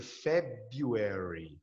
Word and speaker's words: February: Tem um R, viu? BRU. Mas não se pronuncia. Pronuncia February. February, certo?